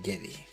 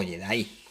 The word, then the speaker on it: Jedi: ataca el retorno del jedi o jedai como queráis pronunciarlo y Esto es para